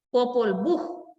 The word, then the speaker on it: Popol Vuh: H final indica que el nombre del libro termina con un sonido semejante al de nuestra J. O sea que al leer esto, yo puedo entender, aquí me está dando información en cuanto a pronunciación de la H final. Entonces podría o tendría que decir Popol Vuh.